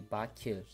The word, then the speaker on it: Baku: But Baku actually is pronounced differently in Azerbaijani language. Baku will be Baku.